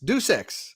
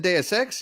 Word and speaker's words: Deus Ex: Deuce Ex. That's not how you say it. Deuce Ex. Let's see. Jesse Darby's going to go with Tomb Raider and then Deus Ex.